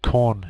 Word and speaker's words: Korn: The most popular, or one of the most popular, is the Korn shell. It just coincidentally happens to rhyme with Bourne shell, but the fellow's